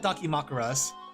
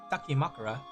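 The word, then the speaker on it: dakimakura: It is called Daki Makaras. Why did I thought I was pronouncing it wrong? Dakim Makura. Yeah, we could do a bunch of Donkey Makaras.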